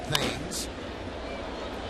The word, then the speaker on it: Thames: Here's Eric Thames, spelled like Marcus Timms spells his name, but pronounced Thames.